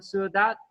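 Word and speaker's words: sữa đặc: Is dat sua dat sua dat? I always get it wrong, backwards, you know. Sua dat, yeah, because yeah, the noun first, yeah, sua dat.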